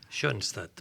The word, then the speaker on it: Schoenstatt: ¿Lo he pronunciado bien? Schoenstatt, perfectamente.